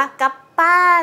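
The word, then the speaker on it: Kappa: อ่ะ คือ อัน นี้ มัน เขียน ka จะ เป็น ta ใช่ ไหม คะ เรา ก็ อ่าน ว่า รอง เท้า กับ ค่ะ เหมือน เป็น สัตว์ ญี่ปุ่น รหัส ญี่ปุ่น ปรากฏ ว่า จริง ไม่ ใช่ ค่ะ อ่าน ว่า กับ ป้า นะ คะ เป็น รอง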